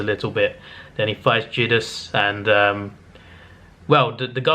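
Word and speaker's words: Zedus: It's spelled with a Z, actually, Z-E-D-U-S, but it's pronounced with a J. So yeah, Jedus is a cool looking kaiju, and visually this looked the best, to be fair.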